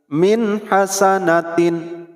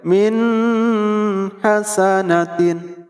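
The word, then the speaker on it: مِنْ حَسَنَةٍ: huruf kecil mint hasanatin mint hasanatin mint ada Non mati menghadapi Kak kecil maka dibacanya singkat padat dan jelas mint hasanatin tidak boleh minha sanatin tidak boleh karena ini huruf Idhar bukan huruf idgham atau bukan huruf ikhfa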